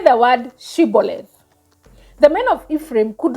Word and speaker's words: shibboleth: said no they would say say the word shibboleth the men of Ephraim could not say the word correctly they pronounce the word as symbolid they were shrabbas thank you so anyway let